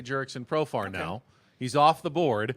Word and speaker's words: Profar: But Profar does rhyme with superstar.